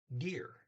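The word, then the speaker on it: det: De blå are lit dirt. So the blue is a little expensive. Okay. De, it's D-E-T. T's not pronounced.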